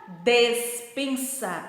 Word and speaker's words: despensa: Despensa. Embaixo, dispensa. É muito parecida a pronúncia, porém não é igual. Despensa é com E e dispensa é com I.